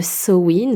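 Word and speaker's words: Samhain: Le jour du sabbat de Soin, ça se dit soin, Sain, ça s'écrit.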